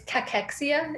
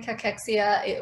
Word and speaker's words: cachexia: us out with that so it's cachexia is the pronunciation cachexia wasting syndrome um again